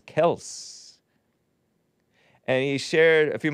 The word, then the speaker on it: Kelce: But Kelce's father, Perg Big Bump, was too weak to correct people on the pronunciation of their last name. It's actually pronounced Kelce, K-E-L-S-S, and not Kel hyphen C-S-E-E.